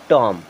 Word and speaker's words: tomb: TOMB, इसे क्या पढ़ेंगे, टॉम। इस प्रकार जब भी एम के बाद में बी आ रहा है तो 99% केसेस में बी साइलेंट होता है, यानी कि उसे नहीं पढ़ा जाता।